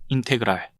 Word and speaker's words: 인테그랄: 제일 먼저 요 기호 인테그랄이라고 읽으면 되고요. 인테그랄.